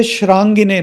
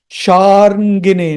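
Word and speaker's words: शार्ङ्गिणे: R is after the A, not before A. So the right pronunciation is Sharangine Namah, Sharangine Namah, Sharangine Namah.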